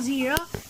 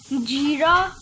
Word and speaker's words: jeera: I think it's called zira, but actually in English it's pronounced jeera.